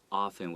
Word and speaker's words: often: One thing to note, the word often, it has a T, but we often say often without the T sound.